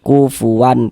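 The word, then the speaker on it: كُفُوًا: Cara membacanya dibaca jelas. Bunyi nun sukqon atau bunyi tanwinnya itu dibaca jelas kemudian tidak didengungkan. Makan baca pendek saja. Kufuan, kufuwan pendek gitu ya.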